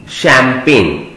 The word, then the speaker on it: champagne: तो इसमें यहां पर हमें पेन की स्पेलिंग लिखनी है PAGNE, शैंपेन। याद रखना बेटा, ये जो जी है ना इसमें ये साइलेंट है। शैंपेन बनेगा CHAMPAGNE, शैंपेन।